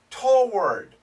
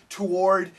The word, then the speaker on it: toward: you usually usually usually toward oh now nobody says toward toward to some people say to but most people say toward toward and it sounds basically like this one syllable usually toward usually toward